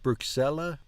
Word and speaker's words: Bruxelles: Do you say the last S? Bruxelles? Bruxelles. Solo andata per Bruxelles. Bruxelles. They're not pronouncing the last S, it sounds like.